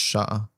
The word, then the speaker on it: chat: Just mentioning chat is pronounced chat. Oh, because it's French.